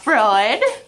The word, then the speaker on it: Freud: Sigma food don't get annoyed I know it's pronounced Freud oh uh uh I'm what son